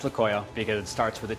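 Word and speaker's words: tlacoyo: It's pronounced laoyo because it starts with a tea that's kind of silent.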